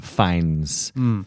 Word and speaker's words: Fiennes: of myself for knowing that Joseph fines it's pronounced fines so so that's that's my win tonight so